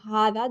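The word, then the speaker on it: هذا: Remember, there's no, even though we pronounce it as Zaalika and Haza, there's no alif after the ha or after the da when you write it.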